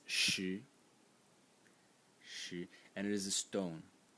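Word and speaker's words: 石: And the semantic element in this character is this left part over here, which is pronounced shi, and it is a stone or sort of like a rock.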